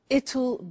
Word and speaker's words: it'll: now will is easy really it's just the pronunciation which is difficult I said tomorrow it'll be cold you notice how it will becomes